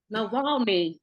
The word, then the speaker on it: Navalny: They're like, oh well, he supports, I believe, the Navalny, and I'm not gonna keep pronouncing his name wrong, but Navalny. say that again. Navalny. Navalny, thank you.